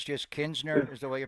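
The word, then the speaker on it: Knizner: To be clear, just the pronunciation, the N is silent after the K, so we're not going Kisner. It's just Kinsner is the way you pronounce it.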